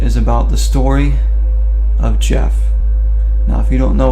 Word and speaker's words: Gef: the story of Jeff spelled gef pronounced Jeff 19:31 there was this